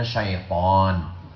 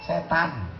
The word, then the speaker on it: syaitan: Bahasa Arabnya syaitan. Orang kita payah nyebut syaitan, setan. Makanya bacanya mesti betul.